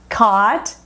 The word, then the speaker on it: caught: A pronúncia é simplesmente OT para todo mundo.